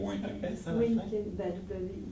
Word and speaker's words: Winkin: On dit 20 parce que c'est un Belge, mais il habite en France depuis quasiment toujours. Donc, on peut dire Winkin. W-I-N-K-I-N.